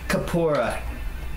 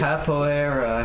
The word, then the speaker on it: Capoeira: Kapora. Gabora. Oh! What is Capora in the first place? Capoeira. I forgot how to pronounce it.